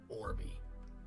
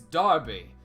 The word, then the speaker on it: D'Arby: Anyhow, your turn, Orby. It's Darby. My name is Darby. It's not Orby, it's definitely not. Don't make that mistake again.